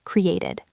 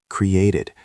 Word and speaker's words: created: So this is 3 syllables.